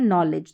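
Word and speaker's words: knowledge: नॉलेज। तो इस तरीके से यहां पर इन स्पेलिंग्स में देखेंगे तो डी साइलेंट है। डी को पढ़ा नहीं जा रहा है। डी के अगर तुरंत पास जी रहता है तो।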